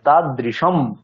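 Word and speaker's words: তাদৃশম্: সবাই হাত তুলে দিয়েছে অনুস্বারের এখানে মকার উচ্চারণ হবে কারণ পরে কি বর্ণ আছে পরে আমাদের কি আছে এখানে মকার আছে মিত্রাম পরে ম আছে আছে তাহলে পরে ম বলতে এটা কোন বর্গ প বর্গ তাহলে প বর্গের অন্তিম বর্ণ কি সেই মকারই তাহলে আমাদের অনুস্বারের জায়গায় মকার উচ্চারণ হবে তাহলে তা দৃশ্যম নয় তাদৃশম বর্জয়ে তা দৃশম মিত্রম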